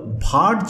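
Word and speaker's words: Wurtz: এই রিয়াকশনটা হলো ভার্জ রিয়াকশন অর উডজ রিয়াকশন, মানে দুটো প্রোনাউন্সিয়েশনই করতে পারো, ভার্জ রিয়াকশন অর উডজ রিয়াকশন।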